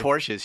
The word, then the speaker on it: Porsche: Porsches? You just said Porsches. I said not Porsches. Oh, Porsche. It's Porsche. No, of course not.